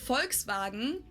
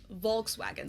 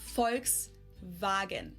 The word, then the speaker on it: Volkswagen: But even if you did go by the full name, it would be pronounced Volkswagen, and not Volkswagen. So, just imagine that it was spelled with an F and V instead. Volkswagen.